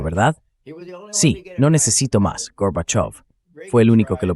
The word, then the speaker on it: Gorbachev: Ahora pronuncie off como la parte acentuada y dígalas juntas. Gorbachov. Lo ha conseguido, señor vicepresidente. Es Gorbachov.